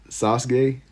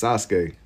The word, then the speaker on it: Sasuke: You say Sasuke. It's Sasuke. That's how they say it in the show.